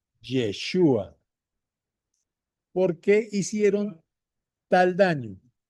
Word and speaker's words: Yeshua: O sea, Jesús en hebreo se dice Yeshua.